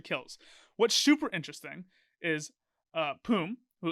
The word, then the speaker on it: Poom: What's super interesting is Poom, who it's pronounced Poom, by the way, not Pume. Figured that out in a Travis Gafford interview when they asked him. It's Poom. He's silent.